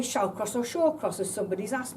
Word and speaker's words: Shallcross: all say hall or manner we all say shall cross or shore crosses somebody's asked me it doesn't really matter shaw cross shall cross there were 36 different pronunciations and names coming out of the word